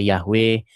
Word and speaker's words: Yahweh: Ada yang membacanya Yahwe, ada yang bacanya Yehova. Begitu. Cuman, cuman nama yang diperkenalkan kepada kita itu hanya huruf mati saja begitu. Bagaimana cara huruf membacanya? Ya, sampai sekarang itu eh belum ada atau masih debatable, seperti itu.